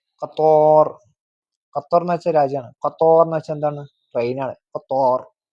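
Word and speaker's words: قطر: മത്തോർ മത്തോർ heavy letter ആണ് മത്തോർ മത്തോർ അടുത്തതാണ് Qatar Qatar Qatar heavy letter ആണ് ഖത്തർ ഓക്കേ ഖത്തർ ഖത്തോർ ഖത്തർ എന്ന് വെച്ചാൽ രാജ്യമാണ് ഖത്തോർ എന്ന് വെച്ചാൽ എന്താണ് ട്രെയിൻആണ് ഖത്തോർ കത്തോർ എന്താ കത്തോർ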